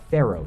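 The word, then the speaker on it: faro: Now, level 4 is what's called a Pharaoh shuffle. Not like the Egyptian pharaohs, it's spelled F-A-R-O, and it's actually named after an old gambling game from the 1800s.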